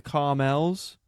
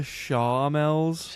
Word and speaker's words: Charmels: I was calling a certain band the Carmels. I was Ah, calling a yeah. certain band, but they were called the Charmels.